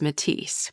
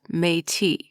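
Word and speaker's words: Métis: And I just pronounced it as I would read it in English. And that was Matise. But that is incorrect. So let me correct myself. It is properly pronounced Matei.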